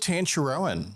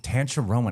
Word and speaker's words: Tancharoen: Tancharoen. I thought that's what it was. But it's actually, I mean, listen, the Thai pronunciation is different, and I don't even really truly know how to say it properly.